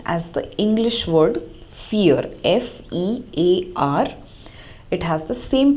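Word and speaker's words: vier: dry and four is fear as we have already discussed the German V takes the pronunciation of English F fear so the word fear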